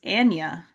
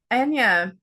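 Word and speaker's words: Anya: Um, we have I just learned how to correctly pronounce her name. It's Anna. I did not know that. Anna.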